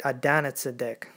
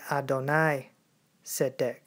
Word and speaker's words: Adonai Tzedek: And no, you did not say it Adonizedek. That's not how you say it. You say it Adonai Tzedek.